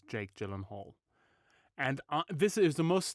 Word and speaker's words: Gyllenhaal: And it's actually how you pronounce his surname. Gyllenhaal. That's how you do it.